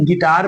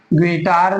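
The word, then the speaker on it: guitar: नहीं पढ़ेंगे गेस्ट पढ़ेंगे ऐसे ही गिटार में देख लीजिए जी के बाद में यू है और उसके फौरन बाद जो है आई लेटर है जो कि य वावेल में से है सो हमारा यू लेटर साइलेंट हो जाएगा इसको हम गिटार नहीं बल्कि गिटार पढ़ेंगे चलिए देखते हैं दूसरा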